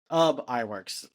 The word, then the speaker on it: Iwerks: iWorks.